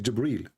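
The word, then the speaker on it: جبريل: here he arrived gabriel it's not gabriel by the way it's jibril even muhammad he got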